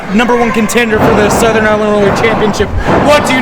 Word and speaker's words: Southern Illinois: Yeah, I hear some people call it so ill and I'm like I think Southern Illinois sounds better just like Cberus.